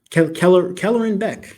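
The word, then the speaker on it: Kelleran Beck: I'm the sorry, Ahmed Best as how do you pronounce this name? Kellerin Beck.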